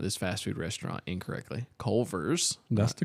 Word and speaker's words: Culver's: so this is a Culver's life hack. Okay. What? So Why do you go pronounce down- everything wrong? It's Culver's. There's a V.